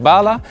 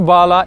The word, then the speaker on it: Bahla: I would pronounce it Bahla, but in Arab it would have to be something like Bahla.